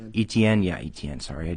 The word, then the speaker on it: Etienne: um they contain trevor lawrence and uh travis etinier etienne yeah etn sorry i butchered his name but that's a really good